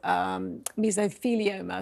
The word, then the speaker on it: mesothelioma: She died from asbestos mesothelioma, is how you say it.